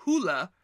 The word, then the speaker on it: Hole: his problems because although this character's last name in the books is supposed to be pronounced as hula the filmmakers have decided